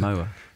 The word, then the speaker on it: Momoa: How do you pronounce his surname? I'm not sure. Moma? Jason Momoa.